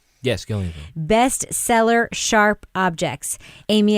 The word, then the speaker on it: Gillian: is an adaptation of Gillian flynns did I pronounce that right yes Gillian best seller sharp objects Amy Adams plays Camille